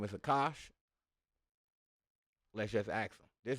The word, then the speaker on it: Akash: Akash is pronounced Akash or Akashir.